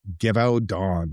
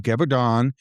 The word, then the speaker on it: Gévaudan: Gévaudan is how I'm going to pronounce it. At least as close as I can get from the Google pronunciation guide.